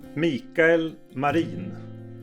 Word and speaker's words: Mikael Marin: And your wonderful viola player, how do you pronounce his name? Mikael Marin.